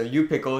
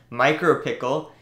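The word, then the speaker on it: µPickle: you pickle for that so you pickle it's pronounced micro pickle it it's a library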